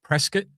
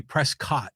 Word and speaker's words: Prescott: You know, it's by the way, it's funny when you always say Dak Prescat, like you pronounce it like biscuit, you know, Prescott, but other people usually say Prescott, don't they?